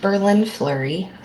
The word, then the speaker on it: BerLynn Fleury: My name is pronounced Berlin Flurry like like the city and like the hockey player.